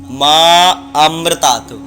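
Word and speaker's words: मामृतात्: बाकी इसमें आ का उच्चारण होता है मामृतात, माँ अमृतात। ये उच्चारण सही होता है।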